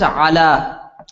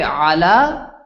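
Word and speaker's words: على: the next word is Allah Allah means on or on top of so look at footnote 12 the long vowel is not pronounced when a sukoon follows same rule so if you say Allah you combine it together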